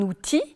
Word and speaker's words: outil: n'est pas toujours prononcée comparer par exemple un outil le elle n'est pas prononcé et un fils le